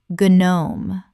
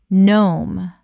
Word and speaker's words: gnome: Guhnome. Correct pronunciation. Nohme. The g is completely silent. One syllable only.